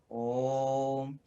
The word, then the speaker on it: ओम: पर ऐसे हाथ लगावें, 3 बार नाड़ी धड़के तब तक ओ बोलना चाहिए और ऐसे अभ्यास करना चाहिए। ओ ओम। वेद में ओ लिखा है, फिर 3 लिखा है, फिर माँ। जैसे ही ओठ बंद करते हैं तो माँ में नीचे अनुस्वार है, अर्थात आधा है, ओम का उच्चारण पूर्ण होता।